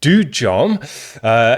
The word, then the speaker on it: Dudjom: The name is Dudjom, which is pronounced Dudjom. It's Tibetan for demon tamer.